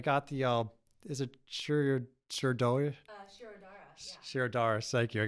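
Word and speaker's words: Shirodhara: Shirodara, yeah. Shirodara, thank you. I could never pronounce that one.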